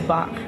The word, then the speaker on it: Bach: i'm sorry yes um people mispronounce it a lot they it's like van gogh and van gogh but it's bach we should reset for